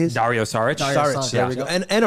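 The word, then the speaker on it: Dario Šarić: Dario Sarich.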